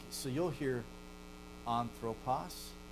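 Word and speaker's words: ἄνθρωπος: like, so you'll hear anthropos begins with an alpha. Anthropos. But you'll then see hamartia. Both begin with alpha. One has no breath, right? Anthropos. One has a breath. Hamartia. You have an H sound at the front of an aspiration, okay?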